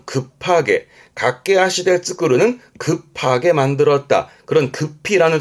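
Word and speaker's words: 駆け足: 그래서 이렇게 쓰면 발음은 갓게하시 각게하시 달리는 발 달리는 발이라함은 간단히 말하면 박질이에요.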